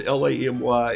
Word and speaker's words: Lamy: It's Lamy. It rhymes with mommy.